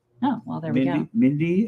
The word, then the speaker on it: Mindi: Mindy and Windy. It's true. Windy and Mindy.